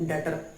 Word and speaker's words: debtor: और देनदार को इंग्लिश में बोलते हैं डेटर। स्पेलिंग तो होती है DEBTORS, बट जब हम प्रोनाउंसिएशन करते हैं तो हमारा जो बी है वो साइलेंट होता है, तो उसको बोलते हैं डेटर।